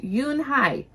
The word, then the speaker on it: Unhei: It's spelled U N H EI. It's pronounced Yunhai.